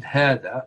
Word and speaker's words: هذا: Hada is a pronoun, pronounced hada, long, but this is written without the first alif.